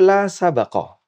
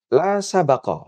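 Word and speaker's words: لا سبق: Yang kedua, la sabaqah, bacanya baknya di fathah.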